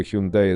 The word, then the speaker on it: Hyundai: В переводе с корейского Hyundai означает «современность». Правильная русская транслитерация этого слова – Hyundai с ударением на последний слог.